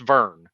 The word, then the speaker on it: Vern: Now it's Vern, Vearn, but it's pronounced Vern.